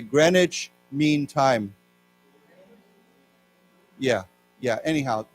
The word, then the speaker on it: Greenwich: So it's pronounced actually Greenwich.